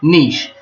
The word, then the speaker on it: niche: niche whoever says niche it's not niche it's nice she's french quiche niche that's how it's pronounced niche I hope my niche